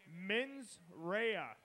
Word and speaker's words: Mensera: off that's because I have gotten the correct pronunciation men's Raya is up next so come on give it